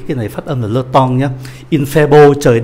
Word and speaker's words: temps: Các anh chị để ý cái này phát âm là le temps nhé.